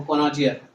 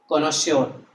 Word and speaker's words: connoisseur: अब इधर देखो कोनोजियर, इसको कुछ लोग कोनोजियर पढ़ते हैं लेकिन इसका एक्चुअल प्रोनाउंसिएशन क्या है, कोनोश्योर, है ना। द प्रोनाउंसिएशन इज कोनोश्योर, ठीक है।